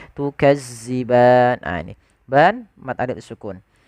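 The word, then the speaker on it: تُكَذِّبَانِ: Hati-hati di dalam hafal huruf zal, jangan sampai kita membacanya dengan bacaan huruf zai, tukadziban.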